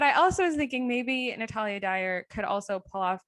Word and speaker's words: Natalia Dyer: i was thinking um i always thought her name was a natalie dyer i think it's natalia um and so i've just been saying it wrong in my head my whole life but it's natalia dyer because i've looked at pictures